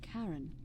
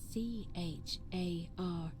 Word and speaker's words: Charon: The pronunciation is a little off. The name you heard wasn't Karen. It was C-H-A-R-O-N.